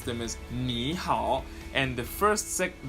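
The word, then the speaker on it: 你好: would pronounce them as Niihau and the first second the first third tone will sound like a second tone quite you see the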